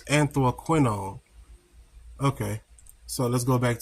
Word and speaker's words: anthraquinone: Anthroquinone. Okay, I pronounced it wrong. So it's anthroquinone.